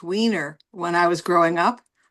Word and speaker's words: Weiner: When I went to college, I changed the pronunciation to Weiner, Weiner. It's Einer.